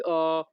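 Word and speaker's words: ho: এই বাক্যের ইতালিয়ান ভাষা হবে কোজি অ পেনসাতো। কোজি অ পেনসাতো। এখানে এস আই এর উচ্চারণ হবে জি, এইচ ও এর উচ্চারণ হবে অ।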